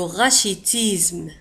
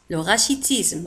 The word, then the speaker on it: rachitisme: الكساح le rachitisme le rachitisme rachitisme le rachitisme le rachitisme تكتب كذلك ب R A C H I T I S M E وتنطق le rachitisme.